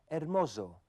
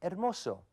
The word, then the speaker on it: hermoso: Walter dijo hermoso con el sonido de una Z inglesa en vez de hermoso, que es como se diría correctamente en español.